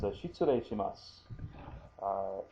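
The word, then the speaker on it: 失礼します: formal setting, and that's shitsure shimasu. S-H-I-T-S-U-R-E-I, shitsure, and then shimasu. And again, there's that softened su there. So shi-tsu, that's T-S-U. Shitsure, that's R-E, and then an I. So re, R-E-I, shitsure shimasu.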